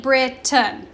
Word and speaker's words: Britain: correct pronunciation is Great Britain right that a and I at the end of Britain is being super lazy and making that schwa sound okay bread tongue we